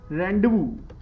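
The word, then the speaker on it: rendezvous: एक वर्ड है रेंडवू. वैसे तो इसकी स्पेलिंग है रेंडेजवुअस.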